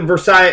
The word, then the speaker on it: Versailles: right began and um Versa treaty that's how you say it it was named after a city in France called Versa and there's several actually